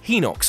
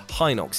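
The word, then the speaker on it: Hinox: pathetic creature called a he knocks or hi knocks if you want to be weird about the pronunciation all it wants to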